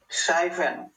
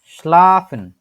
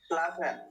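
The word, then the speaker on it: schlafen: প্রিয় একটা কাজ না স্লাফেন কে কে এটার উচ্চারণ করতে চান হ্যান্ডেস করেন মনিটর হোসেন ভাই বলেন তো সাইফেন হয় নাই স্লাফেন স্লাফেন হ্যাঁ স্লাফেন প্রত্যেকটা অক্ষর বাই অক্ষর উচ্চারণ করেন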